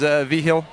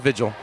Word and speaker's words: Vigil: vigil she did she did say that the proper pronunciation is V Hill but they they go with vigil has a great job